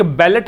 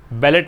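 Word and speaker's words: ballet: एक बैलेट है, एक बैले है। इसको पढ़ते हैं बैलेट, इसको पढ़ते हैं बैले। बैलेट नहीं पढ़ेंगे इसको, स्पेलिंग में टी हालांकि है, एक में ओ है एक में ई है। ये बैलेट है टे, और ये बैले, इसमें टे नहीं आएगा।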